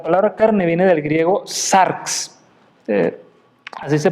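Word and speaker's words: σάρξ: La palabra carne viene del griego sarx, así se pronuncia, y normalmente esta alude al cuerpo, a la sangre que corre a través del cuerpo, a la naturaleza humana.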